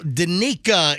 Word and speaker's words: Danica: Danica in Lakeland. Is that the correct pronunciation?